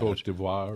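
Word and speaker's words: Côte d'Ivoire: They had a French way of pronouncing that covoir or something like that. and and the Germans wound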